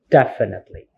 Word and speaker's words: definitely: that is the stress so the stress here is in the first syllable definitely so when it comes to stress it's like you have the high tones on this definitely it's not in second syllable like definitely a Netflix